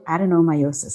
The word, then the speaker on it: adenomyosis: to know i want to move on to adenomyosis i said it right right yes yes so